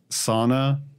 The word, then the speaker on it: sauna: It sounds like that, but that's how they pronounce it in, what is it, Finnish?